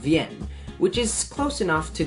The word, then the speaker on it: Wien: actually spoken in German which means that it's pronounced VN which is close enough to be English Vienna